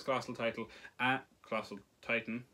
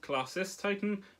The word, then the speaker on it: Colossus Titan: He transformed deep underwater for his Colossal Titan, or, well, it's actually pronounced Colossus Titan, but everyone says Colossal, which is why I've been saying Colossal.